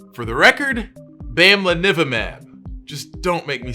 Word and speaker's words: bamlanivimab: obsessed with how difficult this name is to pronounce. For the record, bamlanivimab.